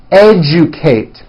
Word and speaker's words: educate: generate German now in the middle of words algebra legend magic subject digest rejoice objective majesty educate that has also an unusual pronunciation let me break it down for you a Jew Kate o